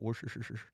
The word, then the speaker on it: Worcestershire: Now, right here, 1 teaspoon of Worcestershire sauce. Is that how you say it? Worcestershire.